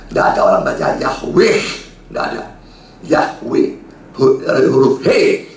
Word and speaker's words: Yahweh: Huruf he pada akhir dari suatu kata tidak dibaca, tidak punya bunyi. Itu dalam pronunciation-nya atau pembacanya ya. Misalnya kata Yahweh, Yod He Lau He, terakhir he, bacanya dari kanan ke kiri. Ya, bahasa Ibrani. He pada akhir, maka bacanya Yahweh.